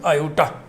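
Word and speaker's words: iota: दरअसल ये Greek letter है, ग्रीक वर्णमाला में इसको ऐसे लिखते हैं और वहां पे इसका उच्चारण करते हैं आयोटा।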